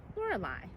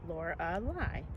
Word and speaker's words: Lorelei: I'm called Lorelei. And my name has 3 or 4 syllables depending on how you say it.